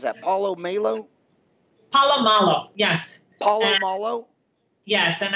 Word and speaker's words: Paulo Malo: P poo is it Paulo how do you pronounce that Paulo Malo Paulo Malo yes Paulo Malo yes and I was fortunate